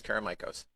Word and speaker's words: Karamichos: show now you said it right it's caramikos where are you from i was born and